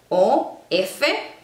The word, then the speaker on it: of: Por ejemplo, la palabra de en inglés o F no se pronuncia como una F, se pronuncia como una V de vaca.